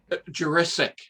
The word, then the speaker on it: Jurisic: Jurisic. Jurisic. Yeah, a little bit like Jurassic Park. Jurisic. Okay. But not Jurassic.